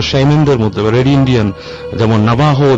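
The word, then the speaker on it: Navajo: যায় একটা সময় ও এটা কারা বিলিভ করে নাবাহুরা নাবাহু ইন্ডিয়ানসরা যদি লেখায় আসে নাবাজো বাট একচুয়ালি প্রোনাউন্স হচ্ছে নাবাহু আচ্ছা এই নাবাহু সম্পর্কে একটু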